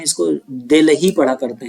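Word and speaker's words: Delhi: दिल्ली पढ़ा करते हैं, दिल्ली जैसा लिखा है दिल्ली, तो इसको दिल्ली मत पढ़ा करिए, उसको एच को है तो साइलेंट करिए, दिल्ली पढ़िए या दिल्ली ऐसे बोलिए, ठीक है। दिल्ली ऐसा प्रोनाउंसिएशन मत करिए, दिल्ली दिल्ली ऐसे नहीं बोलते।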